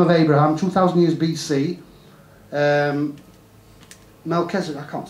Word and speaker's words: Melchizedek: How do you pronounce that, Mark? Melchizedek.